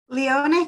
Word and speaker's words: Leone: as possible thanks gina leone do you want to introduce yourself to the group oh you caught me off guard there hi it's pronounced which is highly irritating for everybody but yeah i recently